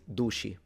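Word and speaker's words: duci: But the c in the palemo area is usually pronounced with a shh sound when it's followed by a vowel.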